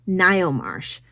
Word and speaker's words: Ngaio: It's Ngaio Marsh.